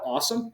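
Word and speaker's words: AUSOM: for students to complete we call call it awesome it's it's spelled Au oom it stands for the Auburn University scholarship opportunity manager uh basically what it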